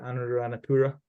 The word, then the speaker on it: Anuradhapura: How do you pronounce it? Anuradhapura.